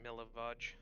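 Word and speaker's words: Milivoj: It's literally just pronounced Milavaj. Milavaj? Well, his name's Millie because I have trouble saying any form that we've decided on. Milavaj.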